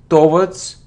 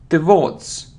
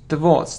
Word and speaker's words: towards: It isn't towards, it's towards, towards. The stress is on the second syllable.